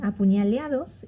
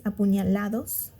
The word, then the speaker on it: apuñalados: get my attention, and apuñaleados is one of them. The right word is apuñalados, but she says apuñaleados, which is not the right way to say it.